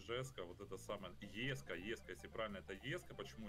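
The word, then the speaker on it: Jesko: все говорить, что это Жеско. Я... Ну, это сам... типа имя вот этого основателя компании Кёнигсек, насколько я понимаю, правильно оно произносится именно вот Еско.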